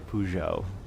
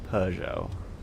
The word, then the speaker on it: Peugeot: I think it's because I never knew how to say it but I always say I always say pujo even though it's Peugeot and I know it's